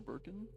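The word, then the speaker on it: Birkin: Oh, I mispronounced his name. I said Burkham, not Burkin. Okay. Yeah. William Burkin.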